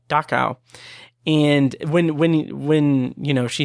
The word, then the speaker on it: Dachau: name of the town, which I keep mispronouncing in my head when I say it out loud, but it's Dachau.